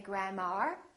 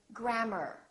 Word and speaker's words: grammar: in words like grammar don't say grandma say grammar or e AR for example